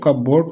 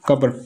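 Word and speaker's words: cupboard: और number of कबर्ड्स वो कितनी है, नंबर ऑफ कबर्ड्स, ये लोग इसको कब बोर्ड पढ़ते हैं, लेकिन इसको कबर्ड पढ़ा जाए तो ज़्यादा बेस्ट है, 33।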